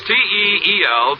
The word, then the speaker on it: Teel: And remember, for laughs, it's R-I-L-E-Y, Riley, and for lovely smiles, it's T-E-E-L, Teel.